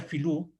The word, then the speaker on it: Vilú: Vilú, que en Mapuzungún ellos no pronuncian las veas, por eso sería Filú, Tren Tren y Kai Kai Filú, en Mapuzungún.